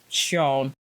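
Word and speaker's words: Xion: easily and then we have the mock name shown now if you see his name written it's spelled x-i-o-n but apparently especially in Korean it's Pro is supposed to be pronounced shown so just to let y'all know because it's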